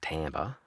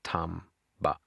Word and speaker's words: Tamba: Okay, this is Japanese pronunciation, so it's not Tambber, it's Tamba.